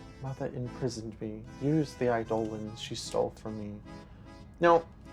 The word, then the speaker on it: eidolons: Like, I used to pronounce it eidolons. But in Final Fantasy 16, which is coming out in June, they like pronounce it as eidolons, which is why I've been doing that lately.